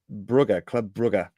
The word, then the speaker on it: Club Brugge: Club Brugge. And Flemish, which I learnt off the TIFO podcast. John McKenzie told me. Is that how it's pronounced? If you're speaking in Flemish, apparently.